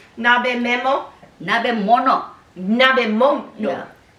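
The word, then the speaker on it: nabemono: Nebemo? Nebimo? Nabemo? How do you call it? How do you say hot pot in Japanese? Nabimo? Nabemo? Nabe mono. I was so wrong. Nabe memo? Nabe mono.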